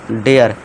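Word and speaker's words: dare: हम डी ए आर डेयर इसे हम डरे नहीं पढ़ेंगे इसे क्या पढ़ेंगे डेयर यानी कि हिम्मत फिर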